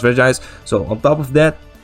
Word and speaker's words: Regis: On top of that, Regis, I almost want to say Regis. I know it's pronounced Regis.